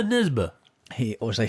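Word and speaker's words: Nesbø: norwegian crime author uh everyone else calls it joe nesbo but as i believe is meant to be pronounced yeah you're nisba he or they say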